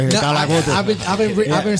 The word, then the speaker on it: Calacote: I've been trying to pronounce that since I read it right here. No, Kalacote.